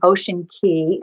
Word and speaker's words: Ocean Cay: people are interested in an ocean key and that i'm pronouncing that correctly yes yes um and uh this